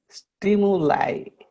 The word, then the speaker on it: stimuli: Stimuli. Stimuli. Stimuli. Yeah, there is a little Y sound in there after Okay. the M.